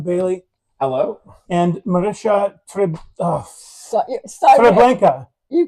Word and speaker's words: Marysia Trembecka: And Marysia Sorry, Trembecka. you call me what you want, Kelly. Trembecka. Am I close? Marysia Trembecka. Oh, Trembecka. I was hard. so close. And the way you pronounce it is nothing like it's spelled either,